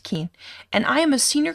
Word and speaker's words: Kuehn: my name is keane yes it's pronounced keen and i am a